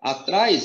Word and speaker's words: atrás: Ó, atrás é uma oxítona, o sílaba mais forte é o tras, é o A seguido de S.